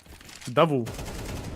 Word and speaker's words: Даву: Даву гол наголос на у. Дякую дуже. Все запам'ятав. Даву, даву, даву, даву, даву, даву, дави, даву.